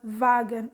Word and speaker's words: Wagen: Now in German, wagon is pronounced as wagen, or is called wagen in German, and in English it's called wagon. Okay, Although this Kaiserwagen is